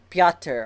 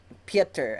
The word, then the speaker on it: Petr: from Steve Orlando that the way to pronounce what I've been saying Petr Petrovich his name is actually piata or Peter I don't know you know if you say it close enough to sound like Peter or if you say